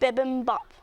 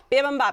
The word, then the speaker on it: bibimbap: Bibimbap. Bibimbap.